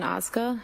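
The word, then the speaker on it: Ozga: Tell us your name, please, and spell it. It's Osg.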